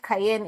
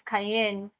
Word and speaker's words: Kayeny: It's not Kayeny, it's not Cayenne, it's Cayenne. So when you finish the pronunciation, your tongue rests up.